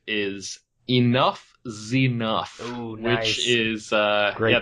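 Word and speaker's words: Enuff Z'Nuff: All right, my number 5 is Enough Zenuff. Ooh, nice. Which is great band. That's spelled ENUFF. Mm-hmm. Next word, capital Z apostrophe NUFF. So literally Enough Zenuff.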